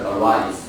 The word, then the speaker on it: arise: And number 7 this word, second syllable is arise.